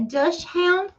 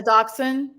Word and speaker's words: dachshund: A dush hound? Dush hound. Okay. A dachshund?